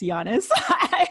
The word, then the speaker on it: Giannis: uh and yeah just so you know it's pronounced giannis i always correct sarah on that and so